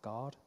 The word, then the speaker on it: Guard: One is called Account Guard for nonprofits. I should just clarify how I'm pronouncing that. That's Account G-A-U-R-D. Guard, if I was American or Canadian.